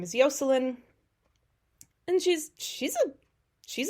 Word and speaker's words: Yocelin: so uh yeah so it's basically the Spanish pronunciation of the name Jocelyn uh but her it's spelled differently but her name is yoseline and she's she's a